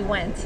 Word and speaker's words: Wendt: Did I pronounce that right? Actually, Wendt.